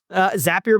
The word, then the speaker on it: Zapier: Zapier makes you happier.